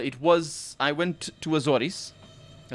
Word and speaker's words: Azores: was i went to azores that's how it's pronounced in portuguese i don't know how it said in english and um i spent